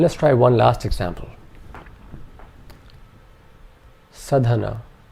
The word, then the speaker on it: sadhana: Sadhana. All three vowel sounds in this are short, so our three syllables are sa, dha, na.